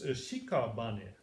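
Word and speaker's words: 屍: This, according to the commentary here, means shikabane. There's one syllable obviously missing, or maybe at Dogen's times you didn't need that syllable. It's shikabane today, and shikabane means a corpse.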